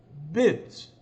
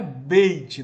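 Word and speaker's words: בית: Você tem aí a palavra hebraica bet, né? Bet. Não é beit, não, viu, irmão? Não se pronuncia beit.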